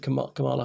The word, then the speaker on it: Kamala: know if kamala harris kamala harris are trying to pronounce it correctly forgive me i'm often accentuating it wrongly like most people the the emphasis goes on the first syllable not the middle syllable i didn't know that